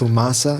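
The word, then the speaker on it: Fumaça: Fumaca, is that how you pronounce Fumaca. it? Fumaca.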